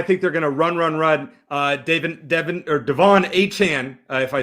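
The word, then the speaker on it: De'Von Achane: Devon Achane, if I said it right. I always mispronounce that.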